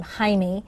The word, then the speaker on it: Jaime: It's spelled like Jamie, Jamie, but in Mexico he pronounces his name Jaime, and it's Musan, Mauson, I believe, or A-N.